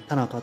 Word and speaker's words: 田中: この田中という地名も発音がですね、田中ではなくて田中というふうに、こちら